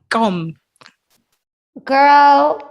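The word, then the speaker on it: gqom: you say it how did you say it gum girl that's literally like if you don't say nothing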